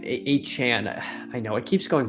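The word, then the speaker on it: Achane: In case you didn't know, it's pronounced as in Jackie Chan, A Chan.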